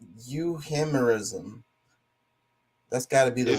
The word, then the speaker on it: euhemerism: No, it's euhemerism. That's got to be the way to pronounce it.